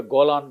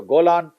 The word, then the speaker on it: Golan: Israel and the CIA in the Golan Heights or the Jolan Heights as the Iraqis pronounce it these were the three